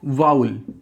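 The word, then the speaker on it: vowel: वाउल, इसकी pronunciation जो है वो वाउल है. और ये किससे राइम करता है, आउल. आउल, वाउल. इसको कई लोग वावल पढ़ते हैं, तो वावल नहीं होता, वाउल होता है.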